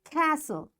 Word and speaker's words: castle: these words next is T is silent in the following common English words so what these words are listen passion Castle often whistle soften hen